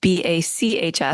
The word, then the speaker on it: BACHS: And just to clarify, Outside the Box is BACHS. Oh, yeah. Yeah, yes. I have a very bad sense of humor. So yes, meant to be a pun. It's not BOX. It's spelled like Johann Sebastian.